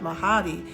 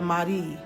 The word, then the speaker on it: Mahdi: It's not Mahadi, it's the Mahdi.